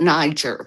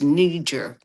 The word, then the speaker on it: Niger: you know, so brother Mali uh Lin Mali followed him and then um and nijer some people call it niger but I think it's pronounced nijer and uh that has